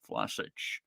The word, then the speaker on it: Vlasic: Mark Noble, Manuel Lanzini, Andrei Yarmolenko, and Nikola Vlasic, which is, somebody said Vlasic. Someone said actually it's more, the V is more of an F, and so it should almost be Vlasic.